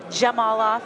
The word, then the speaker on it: Zhamalov: And just for the crowd, it's a Z, but it's pronounced with a J. Zhamalov.